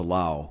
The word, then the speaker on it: Laos: about my trip to Laos with Fawn, which Lao is what it's pronounced.